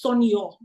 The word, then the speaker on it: Sonia: So it's like saying Sonia. Sonia. But it's Sonyo.